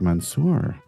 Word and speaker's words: Mansour: That Andy, today our guest is Mansour. Is that how you pronounce your name? Yeah, that's how I pronounce it.